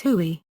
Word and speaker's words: Huey: its designation of H1 which came to be pronounced as huie the reference became so